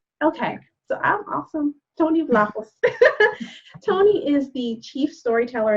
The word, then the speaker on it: Vlahos: And so that said, I'm delighted to be sharing the platform today with Tony Vlahos. Am I pronouncing the last name correctly?